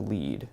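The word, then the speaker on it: lede: as not burying the lead. Lead here is spelled L-E-D-E, which rhymes with L-E-A-D. There are obscure reasons as to why journalists use that word. But the concept of not burying the lead is don't put the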